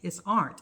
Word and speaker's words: Arndt: It's Arndt. It's ERNDT.